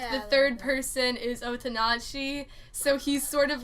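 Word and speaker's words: Otonashi: His name is Otanashi. You pronounced it right.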